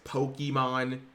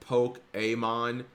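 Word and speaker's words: Pokémon: like irks every time someone says Pokemon instead of poke a Amon cuz it's just like literally not how you pronounce it and it it it it bugged me when I was like 10 years old Chad and it just still Buggs me it's just that's not how you pronounce the word it just isn't there's an accent so there's that and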